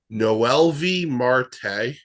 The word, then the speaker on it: Noelvi Marte: I'm making sure I pronounce the name right. Noelvi Marte.